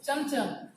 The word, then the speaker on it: चमचम: उसी तरह से चमचम शब्द है, चमचम हम लिखते हैं चमचम, लेकिन उच्चारित करते हैं इसको चमचम, ठीक।